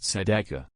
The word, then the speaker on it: tzedakah: According to the Bible, the word righteousness is pronounced tzedakah.